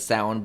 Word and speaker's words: Samhain: to pronounce it uh is actually the real pronunciation of sound but it looks like samhain um you can uh find out more about